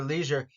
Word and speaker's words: leisure: and the first one regular Leisure notice EI i e it's just an e sound okay so let's go